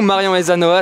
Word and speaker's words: Marion Aysanoa: Et justement aujourd'hui on est avec vous, Marion Ezanoa, est-ce que je prononce juste aujourd'hui?